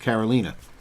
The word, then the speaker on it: Carolina: And by the way, it's spelled Carolina, like Carolina, but it's pronounced Carolina.